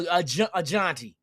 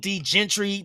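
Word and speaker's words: Jeanty: get two of them, hey, it's trumping a Jonty. People say, why you call him Jonty? That's the correct pronunciation of his name. I had to look it up. Because they're Gentry, I'm hearing all kind of shit.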